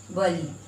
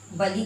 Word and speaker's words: बली: Next देखिए ब और ल में छोटी, इसका उच्चारण होगा वली, बली, बलि का मतलब भेंट। और यहाँ पर देखिए ब और ल में बड़ी, बली, खींच कर बोल रहे हैं, बली।